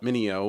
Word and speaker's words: MinIO: realized that a company called Min IO which is how I'm going to pronounce it other people call it Mineo which okay um but